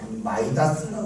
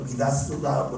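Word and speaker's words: Midas: 유명한 이야기 중에 마이다스라고 그러고 미다스라고 그러죠. 발음에 따라 미다스 또 마이다스라고 하는데 미다스의 손이 나는 이야기가 있죠.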